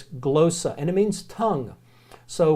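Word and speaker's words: γλῶσσα: just those are all the letters but it's glow so and it means tongue so when in Corinth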